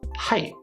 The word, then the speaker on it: height: at the end, but when we're speaking fluently, we don't actually pronounce that T sound. We close off that T sound, and the way that I'm doing that, I notice height, height.